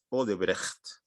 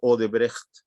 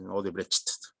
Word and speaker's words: Odebrecht: No se dice Odebrecht, como debería ser Odebrecht.